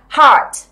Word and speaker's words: heart: Nào, heart. Heart. My heart. Trái tim của tôi đúng không? Thì cô thấy học viên hay phát âm là hurt.